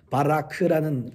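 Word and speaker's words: ברך: 그러니까 발음이 이렇습니까? 바라크라는 말을 합니다.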